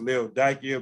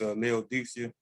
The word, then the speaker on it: Laodicea: church with which is laodicea i think some pronounced leo dakia but we're going to deal with it like here for what most people know of it as laodicea uh the church was